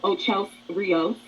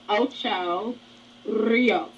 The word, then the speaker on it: Ocho Rios: They ready to go to Ocho Rios, which Natalie says Ocho Rios. That's not the right pronunciation. It's Spanish for 8 rivers. Okay, so it's Ocho Rios. All right, but anyway. Yep, roll it a tongue. Roll it, Rios.